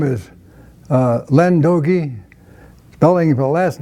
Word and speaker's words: D'Ooge: earth by saying your name and then spell it Oh my name is Len dokie telling her last name is the apostrophe capital